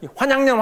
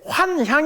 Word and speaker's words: 환향: KN이라 그러죠 그게 욕인데 환향 발음이 환양 환양 이러는데 환향 이거든 돌아올 환자 의 고향이에요 그러니까 끌려갔다가 돌아왔으니까 이게